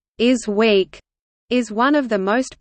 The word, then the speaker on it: ISWC: The International Symposium on Wearable Computers, or ISWC, pronounced "is week," is one of the most prominent academic conferences on wearable computing and ubiquitous computing.